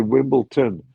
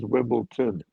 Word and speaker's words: Wimbledon: If when they say Wimbledon and everybody here says Wimbleton, and you just have to look at the the spelling.